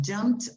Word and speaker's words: jumped: the plane okay jump be careful with the pronunciation with the t they have jumped out of a plane